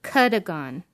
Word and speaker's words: Cadogan: Kuh-duh-gun is how it was supposed to be pronounced. Kuh-duh-gun. Or Kuh-duh-gun. I don't know. Something like that. Well, I would have pronounced it Cadogan, but that's just me.